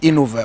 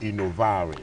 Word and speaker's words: Innovare: Actually, the word is pronounced innovare. Innovare, okay, Innovare. It's the Italian word for innovation.